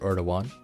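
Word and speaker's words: Erdoğan: sacked another center one erdogan yeah one of one yeah really yeah the d is kind of silent so you pronounce it or to one or sorry the g is silent i mean never heard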